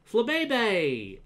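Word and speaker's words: Flabébé: villain of the game i don't like it flabebay it's not flipping there it's flabe technically pokemon's supposed to be pronounced pokemon uh but yes that is an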